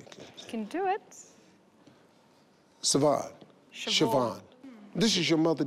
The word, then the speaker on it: Siobhan: So the S-R is a sh. And that's Bond. That, see, right there? See, now. You've been schooled. Being black, how would I know that? Siobhan.